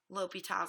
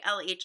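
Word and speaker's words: L'Hôpital: you spell it wrong what is not okay is for you to say lah applies because LH is not a thing you just made up that abbreviation so make sure that you're saying l'hopital's there okay now what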